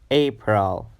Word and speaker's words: April: is April April April it has a sound like in the word gray a April April April the second